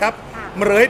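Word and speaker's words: เหฺรย: ยาว เกิน ไป ก็ ชื่อ เหรย เหรย ตัว พินทุ ตัว รอ เรือ สรุ พินทุ ไม่ ออก เสียง เป็น ออก เสียง ตัว ควบ กล้ำ นะ ครับ เหรย เป็น ภาษา บาลี ภาค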